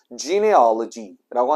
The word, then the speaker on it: genealogy: 첫 번째, genealogy라고 하는데요. 뭐 발음이 약간 지네알러지처럼 들리는데 조금 더 굴려주시면 돼요.